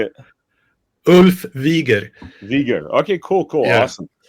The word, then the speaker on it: Wiger: Today we have a very special guest, Ulf Wigger. Did I say that right? Pretty close, yeah. How do you say it? Ulf Wieger.